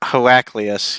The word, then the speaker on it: Heraclius: think what um uh herrick heracles is that how you pronounce it yeah heraclius yeah he's an old byzantine